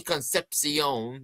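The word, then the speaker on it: Concepcion: Um I have Casey Conpsion. That that's how it's pronounced. Um because because if you're thinking of the of the great Reds outfielder Dave Conpsion from the 70s.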